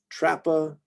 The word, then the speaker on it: Trapa: Tiarella, Torillus, Toxicodendron, Trappa. I don't think I hear Trapa, but I'm sure somebody says it that way.